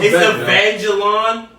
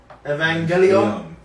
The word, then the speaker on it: Evangelion: It's Evangelon. No. Where he was like, what? What'd you say? No, you pronounce that again. How the true nerds will say is Evangelion.